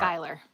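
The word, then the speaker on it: Schuyler: Originally derived from the surname s C Hu Y L E R. Skyler. Yeah, I I was going to say it's probably pronounced the same way.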